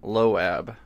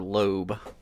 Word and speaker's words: Loab: and demons uh and loab as I call it or lobe um my friend was like why are you calling it loab I said well that's how it's spelled but apparently in in uh normal conversation it's a Lube anyways AI um so